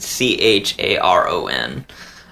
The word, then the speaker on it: Charon: the boat man and c-h-a-r-o-n um nobody ever that's always a hard one to pronounce but I think it's Sharon yeah a lot of people say Charon but we're Americans and we can't talk um but yes the